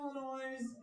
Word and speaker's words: Illinois: From the streets of Chicago, Illinois, led by their manager. Jason always pronounced it Illinois. It's supposed to be the silent S, you know.